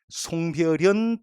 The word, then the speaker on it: 송별연: 그 4개는 음을 첨가시키 발음하지 않는 예입니다. 외워볼게. 송별연, 등용문, 여기용 그리고 월요일, 일요일, 목요일, 금요일 같은 요일 모두 다 야들은 음을 첨가시키 발음하지 않는 일종의 예외라 보시면 되겠습니다.